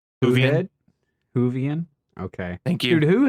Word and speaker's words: Whovian: you sent correctly say it correctly move ahead Whovian okay thank you dude who is so much